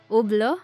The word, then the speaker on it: Hublot: keep in mind that a French words T at the end and it's each at the beginning are not pronounced for proper pronunciation the four letters in the middle Hublot are all that is left number three jackedro the next